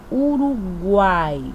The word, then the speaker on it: Uruguai: Tritongo é o encontro de três vogais numa mesma sílaba. E aí, nós temos um exemplo. Uruguai. Aí nós temos o U, o A e o I. Guai. Eu tô falando o ó. Guai. Uruguai. Uruguai.